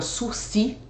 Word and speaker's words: sursis: A palavra sursis tem S no final, embora não se pronuncie, é uma palavra francesa que significa suspensão.